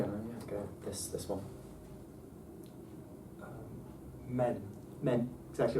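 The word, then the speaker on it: μὲν: The broad consensus is that we don't pronounce it. It means keep it level.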